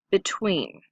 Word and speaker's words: between: E and T different between listen carefully because we put the accent on tween and we often go